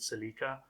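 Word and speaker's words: Celica: of um the Toyota silica I call it the silica um I know people pronounce it cica I'm going to call it the silica you can correct me if you want but I will I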